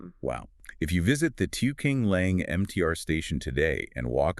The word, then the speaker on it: Tiu Keng Leng: It's still pronounced Tiu Keng Leng, but the characters were changed to mean adjusting scenery ridge. Right. So, they tried to write over the shat designation while keeping the sound.